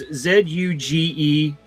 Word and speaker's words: Zugezogenen: And he's saying, "How do you say Zugezogenen?" It's Zugezogenen, according to the Hoopla subtitles, anyway. And he says Zugezogenen.